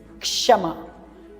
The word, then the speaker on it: क्षमा: और जब कोई शब्द इसी से शुरू होता है तब इसके उच्चारण में बहुत विशेष तरह से ध्यान देना पड़ता है, जैसे क्षमा। इसमें हल्की सी कै की आवाज़ शुरू में आनी जरूरी है।